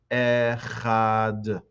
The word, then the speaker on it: echad: One should be cautious not to distort the word echad. Sometimes people, in their intention to pronounce it properly, say the wrong word. They'll say echad, or they'll say echad. Be careful to just say echad.